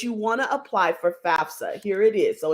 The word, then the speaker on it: FAFSA: FAFSA, not FASFA.